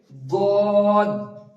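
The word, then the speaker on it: ض: তো এখান থেকে আপনি জিভের কিনারাটা মাড়ির সঙ্গে লাগিয়ে দিন, লাগিয়ে দিয়ে এবার উচ্চারণ করুন আমার সঙ্গে সঙ্গে দদ, সদ, দদ।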